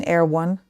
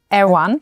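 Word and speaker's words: Erewhon: It's written completely differently. You spell it air1. It's kind Sounds like like something military. A r e w h o n and it's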